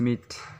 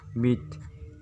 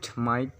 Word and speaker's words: myth: इसका स्पेलिंग होता है MYTH, मीट। अगर हम लोग इसका हिंदी में लिखने जाते हैं तो म बड़ा ई थ, मीट। इसका मतलब होता है भ्रम। अक्सर लोग इसे भी गलत प्रोनाउंस करते हैं, कहते हैं माइट, ये गलत है।